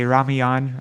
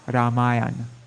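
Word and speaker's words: Rāmāyaṇa: message and yes so for the proper pronunciation of um i think it's ramayana ramayana but in the west times we say lots of times devotees say ramyan or rameon but it's actually ramayana right anybody can correct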